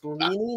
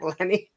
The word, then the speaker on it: Leany: And it's Leany, not Lenny.